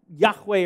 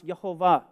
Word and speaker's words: Yahweh: It is the tetragrammaton, the sacred name of God, Yahweh, or some pronounce Yehovah.